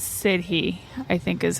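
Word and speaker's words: sidhe: think I think it's uh I think it's sidy I think is how it's said do you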